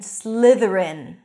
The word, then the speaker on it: Slytherin: Gryffindor Hufflepuff Ravenclaw and Slytherin I Slither voice t h Ren Gryffindor Hufflepuff Raven claw